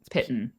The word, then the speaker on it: piton: I'll pronounce pitten. I don't know if you'll hear Piton. this on my microphone. I think it's piton, yeah, but I don't. It's a stupid word. I don't care. And plus, you're a tabaxi, so it's fine. It rhymes with kitten.